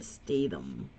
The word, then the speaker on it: Statham: So I have been calling his last name correctly, Jason Statham.